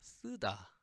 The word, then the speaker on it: 쓰다: So it becomes s and da, 쓰다, 쓰다.